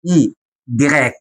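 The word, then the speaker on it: i grec: اللي هي الاي اي جراك. دي اسمها اي جراك، ودي اسمها اي جراك. اي. اي جراك. عارف كلمه يوناني؟ يوناني. جراك. يوناني جراك.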